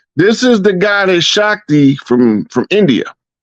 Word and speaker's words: Shakti: Arthur Basham, a well-known historian of India, wrote, "These themes of Shikti, how you say her name? Say that name Shakti. again, Rod. Shakti. It's pronounced Shakti.